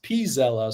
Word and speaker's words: Pella: Uh, but it is actually pronounced Pella. So, Pella.